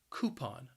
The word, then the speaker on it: coupon: would use a coupon the word has two syllables and the stress is on that first syllable and that first syllable can be challenging because that cou is just pronounced as ku coupon a coupon then we